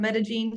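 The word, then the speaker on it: Medellín: and this is Josh I am from metagene Columbia that's how you pronounce it thank you and yeah so like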